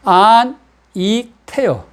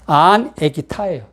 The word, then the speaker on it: 안익태: 안, 익, 태요. 그런데 일본 사람이 읽을 때 안, 익, 타이로 읽는 거예요. 발음이 받침입니다. 받침. 일본 사람은 받침 읽지를 못해요. 그래서 자기들이 편하게 읽기 쉽게 조선인인데 자기들 마음대로 이름을 바꿔도 상관이 없지 않습니까? 그래서 안, 에키, 타예요.